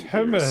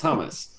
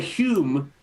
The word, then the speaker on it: hummus: It's hummus and beta bread isn't a thing. It's hummus. So just it's hummus. Hummus. I say hummus. Hummus. Yeah. Hummus. Because HUM is hum. Hummus. You don't say hume. We were huming this song.